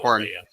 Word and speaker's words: Koran: It's corn. K-O-R-A-N. Corn. Koran, that's what I said. It's not.